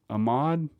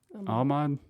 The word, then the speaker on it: Ahmaud: But the first name is Ahmad. Ahmad. Spell it for me.